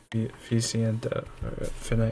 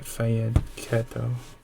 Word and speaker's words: fianchetto: Ficiento, fianchetto. I think it's pronounced Fianchetto. I'm not.